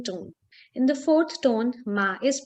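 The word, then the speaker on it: 卖: means to buy and mai in the fourth tone means to sell the characters are different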